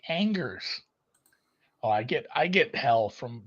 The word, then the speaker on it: Angers: And as Dan pointed out, yes, it's a French word, so it's pronounced silly, and it is. I've actually heard this one before. I'm not sure I'd have done a great job without him writing the phonetic spelling, but it is Angers. Because why the fuck not? You just don't pronounce consonants in French.